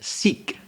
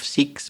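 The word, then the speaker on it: Sikh: in India there's also another very important religion sik that's spelled s i k h the siks are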